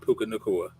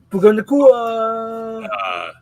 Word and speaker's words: Puka Nacua: You know he likes to move around, and I know Chuck Stafford plays somewhat feel torn because of Puka Nacua. Puka Nacua. You guys are saying his name wrong.